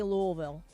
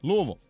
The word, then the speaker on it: Louisville: of money I like how you say Louisville Louisville that's how they say it I know but I